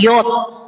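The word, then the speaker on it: יוד: huruf ye ye kalau orang Ibrani baca huruf Ye bukan Ye tapi Yod nah ini he itu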